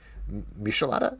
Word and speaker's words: michelada: it with mezcal so michelada is that how you pronounce it yeah like Michelin star uh he made a